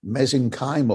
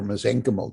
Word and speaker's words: mesenchymal: state which is called more mesenchymal or mesenchymal depending on your pronunciation and such cells when